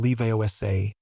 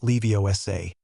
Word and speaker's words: Leviosa: "You're saying it wrong," Hermione said, unable to help herself. "It's wingjam leosa, not leiosa."